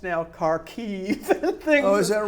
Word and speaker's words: Kharkiv: So, if you teach World War II, what was the multiple battles of Kharkov? It's now Kharkiv and things.